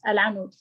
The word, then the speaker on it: Al-Anud: Let's listen to, do I pronounce it correctly? Alanut? Yes, Al-Anud. Alanut. Yes, it's like that.